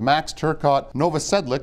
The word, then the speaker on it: Max Turcotte-Novosedlik: I'm here at Algonquin College with max Turcotte Nova Sedlec did I pronounce that right you did yes now you're